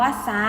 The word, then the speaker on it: ทราบ: ไม้ คำ ต่อ ไป ทราบ ก็ อ่าน ว่า ซ่า นะ คะ จะ ให้ เงิน เห็น ก็ คือ ทร ออก เสียง เป็น ศ.